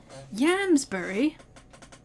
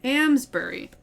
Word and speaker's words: Amesbury: Yamsbury? Oh, wait, not Yamsbury. Amesbury. Amesbury.